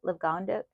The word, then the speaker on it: Livongo: Livongo. I'm not quite sure how to pronounce the name of the app. I know it's Liv, but you could see Livongo. That's it.